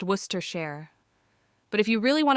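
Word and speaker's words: Worcestershire: The bartender leans in conspiratorally and whispers, "It's pronounced Worcester Share.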